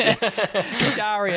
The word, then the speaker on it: Shahryar: Shahryar. It's a silent H. Second H. If you were to pronounce it, strictly in the Persian accent, then you pronounce the H.